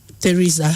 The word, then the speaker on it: Theresa: Theresa.